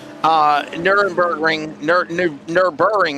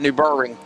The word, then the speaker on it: Nürburgring: Nürburgring, I guess is how they say it. Nürburgring.